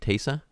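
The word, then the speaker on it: Taissa: think taser yeah yeah how you pronounce it yeah it's t-a-i-s-s-a tesa yeah from yeah for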